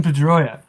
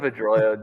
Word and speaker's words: Pedroia: In, His last name rhymes with Pastoria. Like Oscar Pastoria. you stumped him, Drew. My goodness. It's Dustin Pedroia.